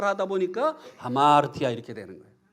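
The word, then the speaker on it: ἁμαρτία: 이 쉼표가 거꾸로 돼 있으면 숨을 내쉬면서 발음을 해라 그런 뜻입니다. 그래서 숨을 내쉬면서 발음을 하다 보니까 하마르티아 이렇게 되는 거예요. 예, 원래는 아마르티아인데 다시 한번 해보겠습니다. 하마르티아.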